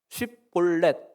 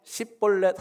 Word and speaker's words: 쉽볼렛: 와서 쉽볼렛 발음해봐. 쉽볼렛 해보세요. 시작. 혹시 십볼렛 한 사람 있습니까?